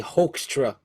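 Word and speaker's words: Hoekstra: h i I say HRA I don't know HRA yeah like a hoax yeah but it's h o e k s St stra um so he's got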